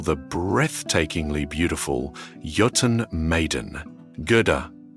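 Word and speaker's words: Gerðr: Gereda, pronounced roughly Gerta.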